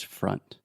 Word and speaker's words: front: Yes, so many of our students say front, the same way that you said it right now. The correct pronunciation is front.